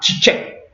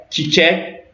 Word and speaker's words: çiçek: En anglais, c'est dit, mais cette lettre se prononce Tche en turc. Ok, donc on a Çiçek, Çanta, Çay. Ouais, c'est très simple. Donc on a Çiçek, Çanta, Çay.